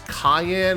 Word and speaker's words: Cyan: uh I know that a lot of people say that it it's Cayenne instead of cyan I would have thought it would be like Cen because it rhymes with Elaine and O so I